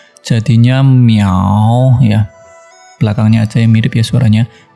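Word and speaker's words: 秒: Contohnya langsung kalau kita kasih shao, ini adalah di kanan adalah shao bacanya. Jadinya miao ya.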